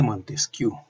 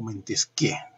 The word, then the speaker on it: Montesquieu: El espíritu de las leyes del barón de Montesquieu, o Montesquieu, dependiendo de la pronunciación, es una obra clásica,